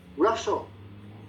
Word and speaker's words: rustle: Rustle, silent T, rustle.